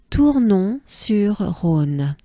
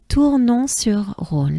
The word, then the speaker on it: Tournon-sur-Rhône: Let me break it down. So we have Tours, just like the Tour de France, right? Tours, Tours, Tours, and then we have non. Non, which is no in French, right? Non, non. And together they form Tournon, Tournon, right?